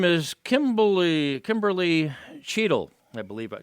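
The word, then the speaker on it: Cheatle: Her name is Kimberly Cheadle, I believe. Cheadle, I think that's the way the name is pronounced.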